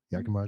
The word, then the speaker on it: Yakima: what you just said did you stress the second syllable the second time I've heard it say I live in Yakama or Yakama like I usually stress the first syil yaka okay yeah yaka Yakama so say it faster Yak okay Yak Yakama it is yeah okay cool and